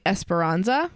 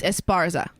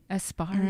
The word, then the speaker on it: Esparza: the book really yeah she kept saying esperanza oh yeah yeah it's esparza esparza yeah yeah it's not esperanza oh anyway nice javier